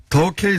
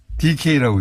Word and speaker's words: 더케이: 아, 더케이 손해보험인데 DK라고 읽으셔가지고.